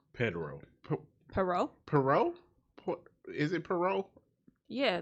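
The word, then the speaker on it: Poirot: pero pero is it pero yeah the t is silent the te is definitely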